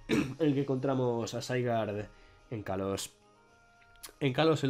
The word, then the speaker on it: Zygarde: Pronunciémoslo bien, Zygarde.